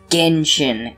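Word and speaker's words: Genshin: on a subreddit for gentian impact it's pronounced genjin impact also you haven't really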